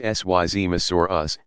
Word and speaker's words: Seismosaurus: Among the longest of these dinosaurs were the Seismosaurus, pronounced Syzmosaurus, and Supersaurus.